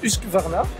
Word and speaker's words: Husqvarna: Alors, ça se prononce Husqvarna.